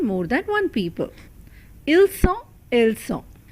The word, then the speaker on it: sont: Ils sont, elles sont. Please note the pronunciation here. It has the S sound because it has two S.